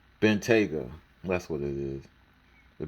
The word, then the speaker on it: Bentayga: Well, I forgot how to pronounce this. Bentayga. Bentayga.